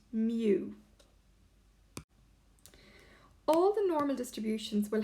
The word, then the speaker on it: mu: is actually given by this symbol which is pronounced mu all the normal distributions will have a mean